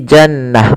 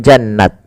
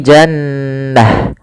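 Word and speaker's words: جنة: menjadi huruf ha sukun maka menjadi jannah bukan jannat tapi jannah ini sebuah kaidahnya kaidah ta marbutah itu adalah diganti dengan ha ketika dia di akhir Bacaan hum fiha kholidun.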